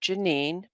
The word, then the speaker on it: Jeannie: I know it spells Jeannie, but she always wanted to pronounce it Janine.